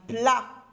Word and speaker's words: plat: lettre muette le pot un plat un plat lettre T lettre muette une pi une pi